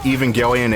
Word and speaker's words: Evangelion: Mecca like aelian or even gelan however you pronounce it Evangelion Evangelion Evangelion Neon Genesis that show is weird